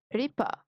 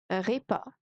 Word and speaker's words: repas: وجبة repas أو repas repas. الاس سايلنت، اس مش بننطقها.